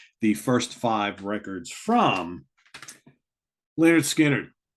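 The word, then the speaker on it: Lynyrd Skynyrd: gonna go with the first five records from leonard skinner pronounced second helping nothing fancy give me back my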